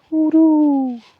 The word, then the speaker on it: hoodoo: Um, I like to say it like an owl, like hoodoo.